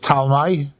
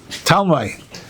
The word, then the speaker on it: Talmai: And then Mele, that's what the Yevonim, that's why there's a one of the kings of Yavon, whose name is pronounced Talmai, spelled with a P, unusually, P-T. Talmai.